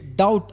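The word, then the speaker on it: doubt: ಬರೆ ಬರೆಯಿರಿ ಅಂತ ಅರ್ಥ ನೆಕ್ಸ್ಟ್ ವರ್ಡ್ ಡೌಟ್ ಡೌಟ್ ನಲ್ಲಿ ಬಿ ಸೈಲೆಂಟ್ ಆಗುತ್ತೆ ಅದಕ್ಕಾಗಿ ಇದನ್ನ ನಾವು ಬಿ ನ ಬಿಟ್ಟು ಓನ್ಲಿ ಡೌಟ್ ಅಂತ ಇದನ್ನ ಪ್ರೊನೌನ್ಸ್ ಮಾಡ್ತೀವಿ ಇದರ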